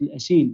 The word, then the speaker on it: الأسيل: I think in Arabic they call it الأسيل, but when you read it in English it's like Asail. But I think that the proper way to say it in بالعربي is الأسيل.